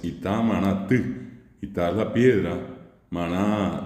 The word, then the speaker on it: Itamaraty: ellos, ustedes saben perfectamente, escriben Itamaraty, allí al terminar es con la Y, que en guaraní esa es la U, y bien pronunciada la palabra es Itamaraty.